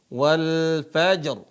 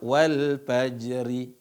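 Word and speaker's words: وَالْفَجْر: ta Wat WAnya fathah Perhatikan cara bacanya walfajr walfajr walfajr bukan dibaca walfajri bukan Wal walaj rnya hilang enggak ada walaj tapi yang dibaca walajr wayalin asr Gimana wayalin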